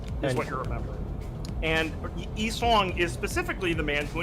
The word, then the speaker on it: Yi-song: Yeah, and then, yeah, it's pronounced Yi-song.